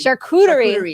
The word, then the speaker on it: charcuterie: going to i don't even know how to pronounce this chartreutery boards how do you say charcuterie charcuterie thank you i better learn that before she